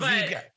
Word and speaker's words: Briat: Yeah, the only thing, so I usually, it's just that you don't pronounce the T at the end. So but Briat.